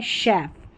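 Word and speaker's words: chef: सी एच की sound श आती है।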